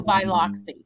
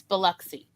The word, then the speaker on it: Biloxi: yeah waxahachie texas uh or biloxi when they say biloxi no there's no biloxi it's biloxi i heard someone say